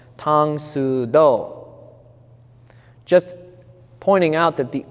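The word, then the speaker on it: 唐手道: If you write this in Korean, it would be written the same way. It would be pronounced Tang Su Do.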